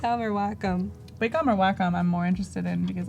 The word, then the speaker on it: Wacom: which really feels like kind of like a Wacom Intuos feeling okay a little bit of texture you can still see through it pretty well yeah and it's pronounced Wakko I'm not Waco which I found out when